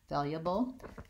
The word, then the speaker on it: valuable: ways that that happens I personally think that if I'm not stressing the word valuable valuable that I changed this you - yeah valuable and we do that